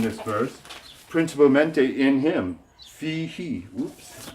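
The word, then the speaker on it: فيه: Now this is fi. Fi is two letters. It's F with a long E verb, ya. And so we have fi, he. He is a subject pronoun. Now, if it wasn't attached to this preposition, it would be pronounced hu. But when it gets attached to a preposition, it changes to he.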